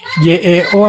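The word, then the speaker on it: 여: ini tulisan latin ya Tulisan bahasa indonesianya itu Yeo tapi kita bacanya yo langsung oke ini juga sama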